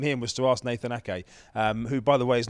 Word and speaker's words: Ake: was to ask Nathan Ake, who, by the way, is not Nathan Aker, as Dan. Nathan Ake couldn't believe that Dan Juma had said that. It is definitely Ake, not Aker.